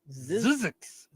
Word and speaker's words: Zzyzx: Zizix.